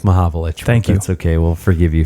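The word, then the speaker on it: Mahovlich: yeah yeah and Frank malovich too made my mavich yeah is that how you pronounce it malovich uh yeah it's it's Frank mavich that's okay we'll forgive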